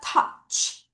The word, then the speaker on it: touch: T-O-U 먼저 발음하시고 CH 갑니다. 따라하세요. touch.